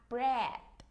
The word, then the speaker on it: bread: Chúng ta có bánh mì là bread. Chúng ta chỉ đá lưỡi chữ đờ thôi chứ mình không đọc là bread đờ nha các em.